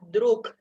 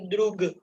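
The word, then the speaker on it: друг: Kata yang pertama adalah druk. Druk. Druk. Ya, Druk. ini tulisannya pakai G, tapi kita bacanya bukan drug. Tapi bacanya druk.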